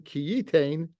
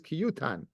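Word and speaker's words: כי יותן: So even though it's written Kiyitain, the pronunciation is Kiyutan.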